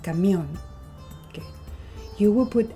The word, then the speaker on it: camión: When a word is called aguda, that means that you have the sound or the stress that falls into the last syllable. For example, camión.